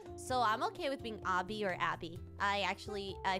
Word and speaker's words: Abi: I think um and a lot of people say Avi you could say Abby cadabra sounds like Abracadabra more so I usually Abby but Abby is how you would say in